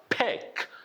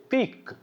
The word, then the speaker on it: pick: So it's a pick, pick. Don't say peak, peak. No, it's a pick. I sound is a short I vowel sound is a A, and you say pick, pick.